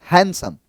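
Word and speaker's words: handsome: वो हैंडसम होता है इसको हैंडसम कहते हैं हैंडसम नहीं डी साइलेंट होता है हैंडसम नेक्स्ट देखो नेक्स्ट है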